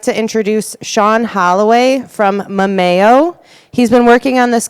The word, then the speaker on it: Memayo: I like that, but it's pronounced Memayo.